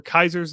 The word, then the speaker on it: Caesar: Dame would be cool Caesar's Legion would be cool um or Kaiser's Legion as they would pronounce it um so you played